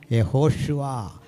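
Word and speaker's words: יהושע: പ്രശ്നം പേരെന്താ ജീസസ് പോട്ടെ അപ്പോ കൃത്യമായ ഉച്ചാരണം എങ്ങനാ യഹോഷുവ യേശുക്രിസ്തു ഹല്ലേല ഹല്ലേലൂയ അപ്പോ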